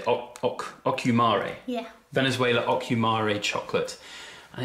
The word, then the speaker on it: Ocumare: But what was really nice was its pairing with this chocolate, this Venezuelan, I can't even pronounce it. What would you say? Ocumare.